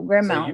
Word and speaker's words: grand mal: Lee Zimmerman says it's pronounced like grand m a w l, mal.